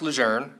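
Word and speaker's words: Lejeune: best answer I could give him was it's pronounced lour and in fact we'd argued over this for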